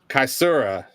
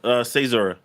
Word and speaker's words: CAESURA: CAESURA. Close. CAESURA. Close. CAESURA. Okay. Man, I told you. So, it's all good. So CAESURA II is the new album, and obviously building off the first iteration, right?